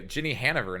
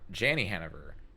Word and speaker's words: Jenny Hannover: Okay, Jenny Hannover, not Janney Hannover.